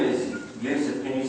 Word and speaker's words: Yusuf: My name is Yusuf. Can you say Yusuf? Yusuf. He said it perfectly. I don't know why they said they got it perfect. My wife, she still pronounces it useless.